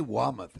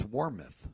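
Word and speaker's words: Warmoth: was kind of like You say Wameth, it's Warmouth.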